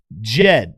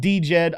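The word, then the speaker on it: Djed: But next week, it's been announced that Jed, not D-Jed, although some people I have heard pronounce it D-Jed.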